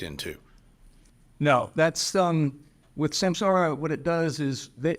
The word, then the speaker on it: Samsara: open I'm saying Sam Sara Dean you're saying Sam Sarah which one is it I want to get it right so I don't sound like an idiot is it is it pronounced samsara or Sam Sarah it it is actually pronounced